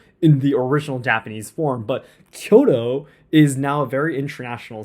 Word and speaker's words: Kyoto: If I were speaking Japanese, I would pronounce Kyoto in Japanese. But when I'm speaking in English, I will pronounce things in English regardless of what I'm talking about.